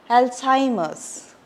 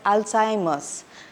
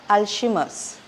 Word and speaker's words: Alzheimer: us look at some terms that are commonly mispronounced first we have the Alzheimer's it's even if we have Zed and H it's said we will say it as Hy that's Alzheimer and it's not alimer many people mispronounce it as alimer it's Alzheimer